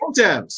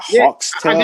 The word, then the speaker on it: Heaux Tales: Okay, It's Heaux Tales. Hotels. Heaux Tales. That's how you say it.